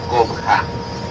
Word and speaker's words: Coba: Coba is written in one of the stones inside the archaeological site, and in ancient Maya would be pronounced Cobha.